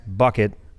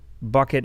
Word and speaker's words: BUCKiT: we call this podcast bucket bucket as in bucket which also rhymes with a word that starts with F like why not just